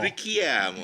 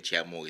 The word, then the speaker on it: Richiamo: Rikiam. Oh dia dia nadal dia macam italiok sikit. Kiam. Okey lepas ni kena betulkan tuan. So kalau ikut pronunciation Malaysia dia kata ciamur kita tak apa aje kan.